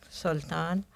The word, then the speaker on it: Sultan: If I pronounce it, it's out of habit. because that's how the word is pronounced in Arabic, Sultan.